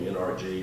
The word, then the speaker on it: NRG: a reli eventually that became NRG or energy pronounced both ways to today through the